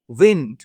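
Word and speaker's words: wind: হয় তখন বাতাস হয় তখন তারকে উচ্চারণ বা প্রোনাউন্সিয়েশন উন্ড কিন্তু যখনই এই ডব্লিউ আই এনডি ভার্ব হিসেবে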